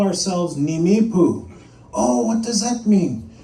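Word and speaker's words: Nimíipuu: So first you say ni, me, poo, Nimipu.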